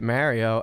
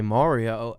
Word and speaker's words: Mario: This is how you say it, Mario. And then all these other people correct me and say Mario, and they're from who knows where.